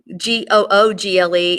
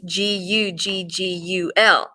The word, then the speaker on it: guggul: It also, which it's also known that bdellium in India is known as Google, only not Google, it's Guggul.